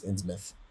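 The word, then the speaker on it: Innsmouth: or in mouth it's it's spelled ins mouth but it's in myth oh okay yeah I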